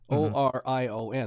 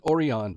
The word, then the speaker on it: Orion: okina is called oron o r i o n that's how they pronounce it we would pronounce it Orion they pronounce it oron beer and you can